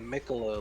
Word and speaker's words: Mikolo: Mikolo? Yeah, it's like Miccolo, like Piccolo.